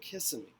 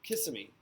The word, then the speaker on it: Kissimmee: officers crashing into vehicles and this happened and kissimmee kissimmee kissimmee i wanted to say kiss me lee is what i wanted to say sorry it